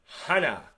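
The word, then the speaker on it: 하나: 1, Hana. Sounds like Hana.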